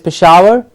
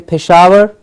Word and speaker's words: Peshawar: city in Pakistan is Peshawar okay Peshawar pe Sh Pesche Peshawar pe sh awar Peshawar a famous historical city